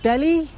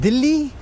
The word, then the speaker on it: Delhi: I always say Delhi when I'm speaking to foreigners.